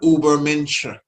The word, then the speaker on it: Übermensch: But Übermensch, German pronunciation, what he says here.